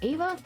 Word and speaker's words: Ava: was also there wait her name is pronounced Ava I've been saying Eva this whole time oh my gosh I swear I thought it was Eva oh God I feel